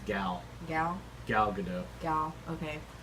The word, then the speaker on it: Gal: hadn't before, such as Gal Gadot in Wonder Woman costume. We've been saying that wrong. There's not an I in her name. It's Gal.